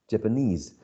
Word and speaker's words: Japanese: an attributive position um we have that Japanese is stressed on the last syllable right Japanese but then teacher teacher